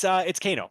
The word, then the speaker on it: Kano: It's Kano, like the character in Mortal Kombat.